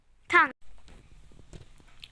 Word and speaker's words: tongue: The O's is silent. Tongue.